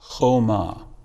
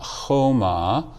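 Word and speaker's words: חומה: Choma. But in Exodus chapter 14, verse 22, the word is spelled without that vowel letter. It's spelled chet, mem, hey. And that can be reread not choma, but chema, which means wrath.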